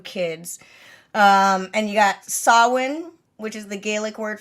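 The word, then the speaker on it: Samhain: his like two kids um and you got sawin which is the Gaelic word for Halloween you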